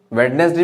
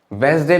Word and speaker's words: Wednesday: playing cricket since Wednesday, वेडनेसडे भी कह सकते हो, वेंसडे भी कह सकते हो, लेकिन स्पेलिंग यही होगी, चाहे वेंसडे बोलो चाहे वेडनेसडे बोलो। स्टैंडर्ड की अगर बात की जाए तो वेंसडे ज्यादा सुटेबल है।